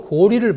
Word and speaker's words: 고리: 이처럼 전운옥편, 어정시운, 신자전, 명문 신옥편, 한한사전, 큰사전, 최신홍자편, 대한한사전, 대한한 대사전 쭉 나가서 라이브 한자 사전까지 모두가 고려는 고리, 고구려는 고구리라고 읽으라고 되어 있습니다.